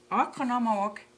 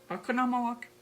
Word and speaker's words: Oconomowoc: be the olympia resort and conference center in economic wisconsin i hope i did pronounce it correctly okay i do my best my best i can you know with the pronunciation it's economic wisconsin um it's 20 miles away from milwaukee